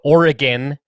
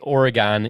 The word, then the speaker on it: Oregon: do feel like i feel like oregon is the right way to say it but some people say it's oregon i don't know oregon just sounds not right to me no i'm not a